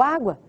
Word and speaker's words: água: Me diz, ou pensa aí, qual é a sílaba tônica de água? Muito bem, é o água.